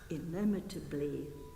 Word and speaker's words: illimitably: Illimitably.